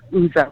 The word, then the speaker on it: Ouzo: spell it it's o-u-z-o it's like the greek liquor oozo because he's a little